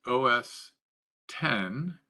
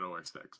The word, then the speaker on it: OS X: humble os x so os x pronounced os 10 yeah well i call it os x most people i know